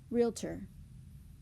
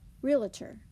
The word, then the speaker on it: realtor: We've all heard this. Realtor. Or frequently said, realtor.